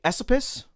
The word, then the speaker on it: Esopus: you look it up there's some controversy on how to say the word esopus so the people who live in that area the area that is now inside of ulster county they usually say esopus i believe i've been